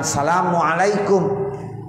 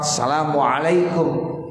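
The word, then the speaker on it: السلام عليكم: Sama seperti membaca salam yang pertama, assalamualaikum. Jangan salamualaikum. Kalau kita sholat assalamualaikum, kurang alif lamnya, enggak sah.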